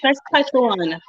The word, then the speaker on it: Saskatchewan: Saskatchewan, not what you call it. It's Saskatchewan.